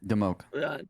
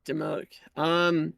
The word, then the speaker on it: Dimoak: Okay, Dimoak. Dimoak.